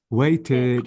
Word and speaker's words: waited: past of wait waited waited exactly so notice I pronounce the E plus the D why because the verb ends with t so this is the